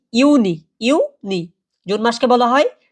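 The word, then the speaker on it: Juni: মাই মাই অর্থ কি মে মাস তারপর যেটা জুন জুলাই এটাই সচরাচর সবাই ভুল করবেন এটা কি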